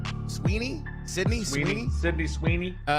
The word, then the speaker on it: Sweeney: Sweeny.